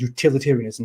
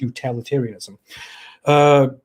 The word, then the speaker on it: utilitarianism: It is utilitarianism, not utilitarianism.